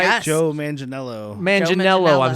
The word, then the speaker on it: Manganiello: Joe Mangelo, am I saying it right? Yes. Joe Manganiello.